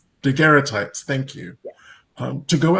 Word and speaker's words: daguerreotype: I want to call it Daguerreotype? daguerreotypes.